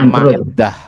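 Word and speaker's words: معدة: Jadi bacanya Ma'idah. Ada yang bacanya Ma'dah.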